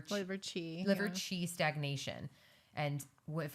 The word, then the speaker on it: qi: It's spelled QI, but it's liver qi.